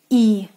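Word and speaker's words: И: The sound is the longer one, like in the English word here, here, e, e.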